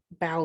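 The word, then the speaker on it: bough: it for you um this is like bow like rock-a-bye baby right when the bow breaks it's a branch it means branch um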